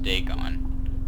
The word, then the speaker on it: Dagon: what dagon is daegon oh it's pronounced day gone i was pronouncing it completely wrong then it was the